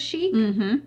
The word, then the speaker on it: Chic: we didn't realize is how many people would mispronounce the word Chic chick we got we get chick we get chick influencer all the time all